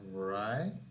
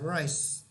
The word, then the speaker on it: rice: what is correct so here we have Roy here we have rice so we have a bowl of rice or rice this rice is correct right is not correct